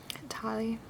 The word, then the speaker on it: Tali: If I went for a female character, Tali, I believe that's how you pronounce her name.